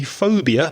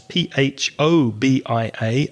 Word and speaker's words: phobia: is the following a phobia that's p h o b i a a phobia that ph is pronounced with an f sound for phobia is an